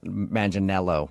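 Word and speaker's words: Manganiello: Uh, because we talked to him and he told us that a lot of people say he looks like Joe Manel Manello, right?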